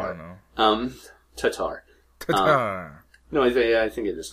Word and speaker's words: Tatar: No, it's not tartar. There's no first R. I don't know. Tatar.